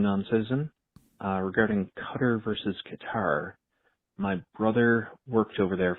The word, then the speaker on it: Qatar: The problem is it's it's Arabic, so we're all saying it wrong. It's probably like Cutter.